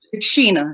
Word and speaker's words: Shana: Think of Zena and Sheena. It's Sheena. It's spelled like Shana, but it's pronounced Sheena.